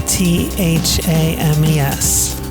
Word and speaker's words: Thames: the River Thames and the temas is about tha mes looks like fames but it's pronounced Thames the Thames River is fifty miles